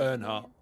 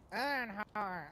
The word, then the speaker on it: Earnhardt: Earnhardt. again? Earnhardt. Earnhardt. Oh, like Dale Earnhardt, the NASCAR driver.